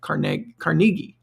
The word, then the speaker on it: Carnegie: African but it he he pronounces is it cargi not car anyway when we have